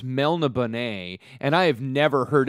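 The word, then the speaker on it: Melniboné: the note that you gave me it says pronounced Melanie Bonet and I have never heard it pronounced that way ever by anyone and I apologize to mr. Moorcock for mispronouncing melena Bonet for goddamned 30 years so I apologize that's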